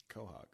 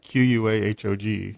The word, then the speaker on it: Quahog: seen the show Dave Oh Quahog well you pronounced it correctly yeah and they you got it you know yeah yeah yeah I wrote q ua h OG there you go that's that's Quahog oh it's funny how